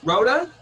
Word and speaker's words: Rodda: here with my man i believe is pronounced rhoda okay in an american accent i'll take that